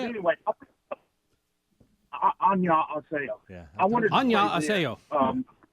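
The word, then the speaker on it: 안녕하세요: Anyway, annyeonghaseyo.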